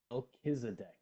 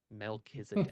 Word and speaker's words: Melchizedek: Okay, I need to know how you pronounce that name. Melchizedek. Melchizedek.